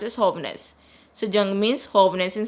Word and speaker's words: jóvenes: Guys, you already know J is pronounced as H in Spanish. It is pronounced as jóvenes.